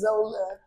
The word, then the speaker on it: Xola: actually my real name my real name is Zola it's spelled exactly like that my real name my